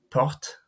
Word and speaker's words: porte: If a word ends in an unaccented e or in es, the preceding consonant is always pronounced, but the e or the es remains silent. So here we have porte.